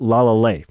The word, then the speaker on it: LALAL.AI: Professor BX suggested for me to check out la la now I know some folks call it la. a but it's pronounced la la that's what they told me